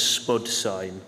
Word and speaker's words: SPDH-Sign: we got out and we're pronouncing this Spud sign where spiders British English for potato okay um I'm also